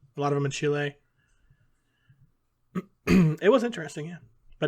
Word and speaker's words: Chile: lot of them in chile it was interesting yeah but now it's over good job pronouncing it chile instead of chili i've been watching that